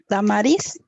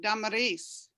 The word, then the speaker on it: Damaris: no your first name lamaris i knew i had it wrong but i didn't know how to correct it damaris yes okay and gerson how do